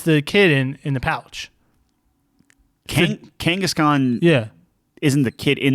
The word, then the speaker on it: Kangaskhan: How do you pronounce this Pokemon? Genghis Khan? No. The Pokemon? Kangaskhan?